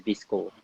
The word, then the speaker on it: VSCO: Or actually, it's pronounced as Visco, apparently. And I will use Visco. And after Visco, I will use Lightroom sometimes.